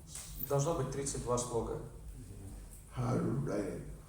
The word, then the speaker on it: Hare: Hare, Hare. No, it's not Are.